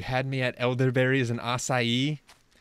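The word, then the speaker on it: açaí: me at elderberries and acai aren't you proud of me for saying it right and not Akai berries as everyone says oh I don't want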